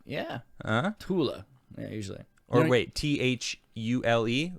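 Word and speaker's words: Thule: barf is like yeah a lot of these things are actually th is not pronounced yeah tula yeah usually or wait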